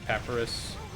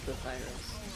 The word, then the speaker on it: Papyrus: It's Sans again or Pep Papyrus. Pepperus. I can't pronounce words. I'm a mouse. I'm not an expert, but I think it's Papyrus.